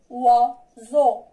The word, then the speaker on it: oiseau: On passe maintenant la lettre O avec la lettre I. كتنطق بحال حرف الواو و و و و. Répétez avec moi. و و و. ناخذ des exemples. مثال oiseau, effroi. On a la lettre O avec la lettre I et la lettre O avec la lettre I ici. D'accord? On prononce oiseau, oiseau, oiseau.